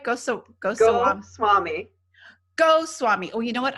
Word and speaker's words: Goswami: Goswami. Oh, yeah, easy. Just like it sounds.